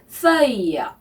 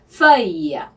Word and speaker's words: feuille: 그래서 feuille 발음 주의하시고요. 발음은 입술을 O 한 상태에서 에 소리를 내면은 한다 그랬죠. 그래서 feuille 이렇게 발음을 하셔야 되고요.